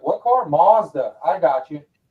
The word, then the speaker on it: Mazda: was like what car Mazda I got you it's just a difference in pronunciation from Australia to America yeah we're here with say Mazda yeah saying Mazda it